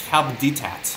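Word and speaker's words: Coup d'Etat: You're pronouncing it wrong. It's Coupe de Tat.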